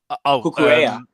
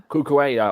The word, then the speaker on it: Cucurella: How do you pronounce the Chelsea goal scorer for the first one? Cucurella. Cucurella.